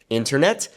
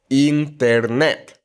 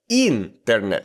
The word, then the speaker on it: internet: In English, internet. In Spanish, internet. It's not internet. No, it's internet.